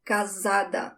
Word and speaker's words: casada: That S, one S between two vowels, sounds like a Z, casada.